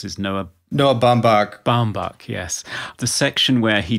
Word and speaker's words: Baumbach: Palma documentary that I'm not sure how to pronounce this, Noah Noah Baumbach. Baumbach, yes.